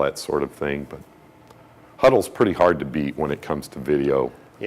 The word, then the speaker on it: Hudl: It's called Huddle. HUDL. I And think the is how schools you will pronounce it.